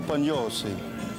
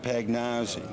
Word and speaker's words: Pagnozzi: You know, they pronounce this show, we just got finished talking, in the States, is PAGNOZZI. Tom Pagnozzi, when you come up to the plate or whatever. And I want you to know that there's an 80-year-old lady that lives on the hill, and every time you come to the bat, she says, "Oh my God, it's Tommaso Pagnozzi."